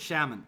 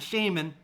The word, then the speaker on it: shaman: the shaman okay and that's the correct way to say it Shaman not Shaman Shaman okay we say it like that shaman all right so